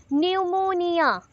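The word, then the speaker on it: pneumonia: पे ज्यादा फोकस हुआ न्यूमोनिया that is पी is silent N पे ज्यादा फोकस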